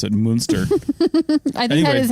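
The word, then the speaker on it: Münster: have to pronounce it moonster I think that is how you you're supposed to pronounce it so I know with like a little more emphasis on the moo but anyway got it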